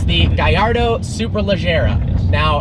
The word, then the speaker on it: Gallardo: island unfortunately it's the guy Ardo superleggera now it is pronounced guy our dough because the name is a Spanish fighting bull even though lambhini is